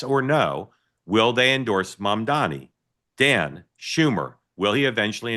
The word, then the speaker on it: Mamdani: By the way, when people hear me say it, and you don't think I'm saying it right, it's my Maryland accent. I know exactly how to say his name, Mom Donnie.